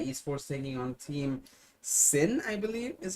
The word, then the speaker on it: SYN: to be dead is for singing on team sin i believe is how you pronounce their name syn is the spelling but